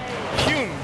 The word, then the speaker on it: Hyun: Hyun.